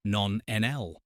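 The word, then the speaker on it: nonanal: Scientific research has identified a compound known as non-anal, pronounced non-NL, which plays a significant role.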